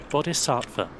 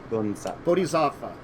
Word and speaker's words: bodhisattva: let's try oxford dictionary let's see how it's pronounced bodhisattva bodhisattva yes there we go thank you oxford dictionary because i was butchering